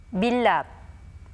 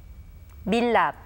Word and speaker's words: 밀랍: Notice that the letter that comes after the 리을 받침 remains as it is. When the 받침 리을 clashes with the consonant 리을, the latter sound remains as it is and is pronounced as 리을.